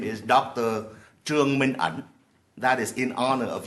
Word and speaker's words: Trương Minh Ẩn: First of all, the correct pronunciation of his name is Dr. Trương Minh Ẩn.